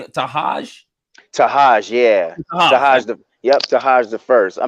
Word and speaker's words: Tahaj: And how do you pronounce the producer's name? Tahaj? Tahaj, yeah.